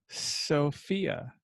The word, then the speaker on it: Sophia: Brandon then followed by, I have recently been corrected. It's pronounced Sophia.